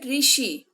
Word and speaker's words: ऋषि: ऋषि। और इसका उच्चारण री होता है।